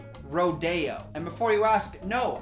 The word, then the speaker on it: Rodeo: I told me that the street is actually pronounced rodeo and before you ask no I don't feel stupid the only stupidity I feel is secondhand stupidity from the person who spelled it rodeo and pronounced it rodeo that is embarrassing I hope you're dead the